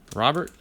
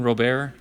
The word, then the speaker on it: Robert: very nice Robert and I even said it right correct Robert I was one of those at first was saying robear but I guess the the broadcaster's in the booth are saying Robert and they would know